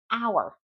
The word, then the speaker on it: hour: For example, hour. The H is silent.